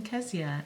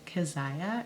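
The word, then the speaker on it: Kezia: the age and it can also be pronounced kaziah and we chose not to pronounce it that way so we chose kzia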